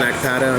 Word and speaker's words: Akpata: want to be introduced yeah uh I'm AATA I'm a member of the marijuana party I'm